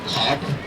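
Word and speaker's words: Cobh: C-O for the P-H would be the Irish spelling of it, pronounced Cove. Now some people will pronounce it Cobb. And C-O-V-E would be the English spelling of it, also pronounced Cove.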